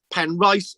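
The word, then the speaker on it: Penrice: the talbot family of penn wreath or penn rice castle i'm told i've got to pronounce it because pen racism around the valley pan rice is on the gower was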